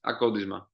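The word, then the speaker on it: Akontisma: Next one, I have recently watched the live concert you guys did at Acontisma. Is that the right pronounce? Yes, Akodisma. Acontisma, all right.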